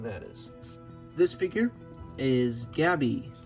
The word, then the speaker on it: Gabby: This figure is Gabby. I'm not going to say her name twice. That is the proper way to say it. You say Gabby twice, but I just don't like saying that for some reason.